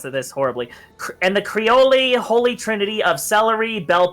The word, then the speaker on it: Creole: and I'm gonna mispronounce this horribly, and the Creole holy trinity of celery, bell peppers, and onions. So yes, there you go. It is a stew. It's pronounced Creole.